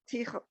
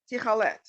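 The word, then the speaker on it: תכלת: Tichalet. Techelet.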